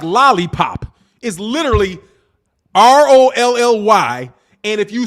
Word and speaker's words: Rolly: the same way as lolly will you please stop saying lolly raleigh it's rolly man roll your raggety ass